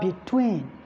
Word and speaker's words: between: Then, for verbs and adverbs, the primary stress is always on the second syllable. For instance, you have between. So the primary stress falls on TWEEN.